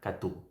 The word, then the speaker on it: kotu: O per exemple, si li dones una cosa a un gat, de la paraula “kot”, li poses una U, canvia la síl·laba tònica al final i es pronuncia “kotu” (fan la reducció vocàlica de les O neutres a Ə).